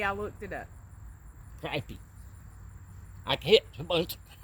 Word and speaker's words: crappie: And that is spelled correctly. I looked it up. Crappie.